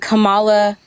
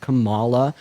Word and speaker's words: Kamala: Her name is pronounced Kamala Harris, not Kamala or Kamala or Kamala or anything else that y'all like to say.